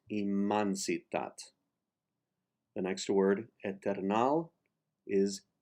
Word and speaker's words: immensitat: In the Catalan language, for the vowel E, if it is not placed in the accented syllable of the word, the E is pronounced like an A. So in this case, immensitat, it is immansitat.